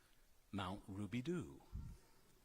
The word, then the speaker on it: Mount Rubidoux: I hiked up Mount Rubidoux countless times, and my hearing friends made fun of me when I pronounced it the French way, Mount Rubidoux.